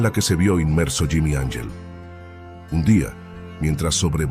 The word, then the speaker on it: Angel: un piloto estadounidense llamado Jimmy Angel surcaba los cielos del sur de Venezuela. Jimmy no buscaba ángeles ni santos, y su apellido se pronunciaba en inglés, no en español, buscaba oro.